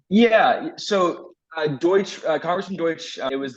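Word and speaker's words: Deutch: Ted Deutsch what was that like am I pronouncing his name correctly yeah so uh Deutsche Congressman Deutsche it was like Direction youth cabinet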